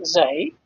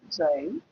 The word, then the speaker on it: xi: That constant, I said, this is in Greek letters, this is pronounced xi, xi in Greek, which is equivalent to x.